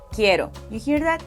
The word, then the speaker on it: quiero: Uno suave, en palabras como Caro Quiero Caro Quiero Do you hear that? It's a very soft sound. To get that soft R sound, you can think about the way many Americans pronounce words like butter or better.